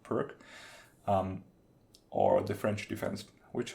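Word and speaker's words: Pirc: like the Caro-Kann or Perth's defense, or I suppose it's usually pronounced Perk, or the French defense,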